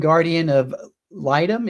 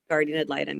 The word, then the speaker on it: guardian ad litem: Now, you're also a trained guardian of litem, is that correct? Did I pronounce that right? Guardian ad litem, yes.